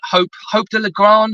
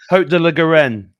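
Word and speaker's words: Haut de la Garenne: are aware of, in Hope de la Grande. I always get the name wrong. Hope de la Garenne. That's it. I always get that wrong. My French isn't very good.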